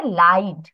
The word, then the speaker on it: lied: দাঁড়াও, এটার প্রোনাউন্সিয়েশন হবে লাইড।